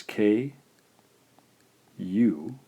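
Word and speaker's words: く: This is romanized as K. U is pronounced ku.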